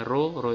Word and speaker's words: rho: Sehingga disimpulkan dari persamaan ini R adalah rho, ini cara membacanya rho itu adalah hambatan jenis, rho kalikan L per A.